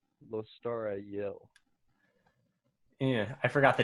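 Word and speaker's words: Lostara Yil: that person immediately kills shaykh her name is lostra yill in case you were wondering and narrator of the audiobook who is obviously the ultimate authority on all things pronunciation pronounces her name lostara yell yeah i forgot the t i'm sorry anyway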